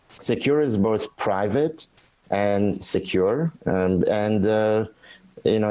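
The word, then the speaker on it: Sekur: in today's world tell us why great well secure which is spelled s-e-k-u-r is our email and messaging application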